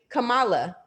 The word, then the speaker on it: Kamala: to Justice Sotomayor, but she said her name wrong from the get, right? Kamala.